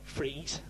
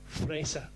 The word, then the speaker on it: Frese: Not Fries, Frese. That's how you pronounce the name in Germany, okay?